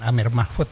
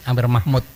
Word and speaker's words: Amir Mahmud: Betul, tapi bukan Amir Mahfud ya. Oke, gimana Pak bacanya? Amir Mahmud.